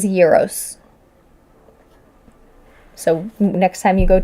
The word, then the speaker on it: gyros: And I have to say it properly, gyros. It's not gyros, as I grew up calling them. It is gyros.